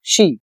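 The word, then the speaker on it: Xi: एज क्योंकि Trump and शी यह जो दोनों प्रेसिडेंट है शी ये इसकी प्रोनाउंसिएशन होती है शी जिनपिंग तो ये दोनों ने क्या किया?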